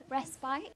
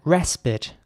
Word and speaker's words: respite: so the I is once again pronounced like an i this time not like an e enjoying your brief respite whereas in American English it would be more like respite so the I is pronounced like it again respite here's an example for